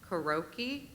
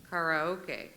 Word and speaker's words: karaoke: Alternate pronunciations. Karaoke. Karaoke.